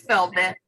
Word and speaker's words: Velvet: unmute and pronounce it it's velvet just like the material it's beautiful velvet but